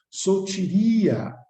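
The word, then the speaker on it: σωτηρία: substantivo feminino, né, e a sua ortografia fonética no grego se pronunciaria sotiria, que vem da origem,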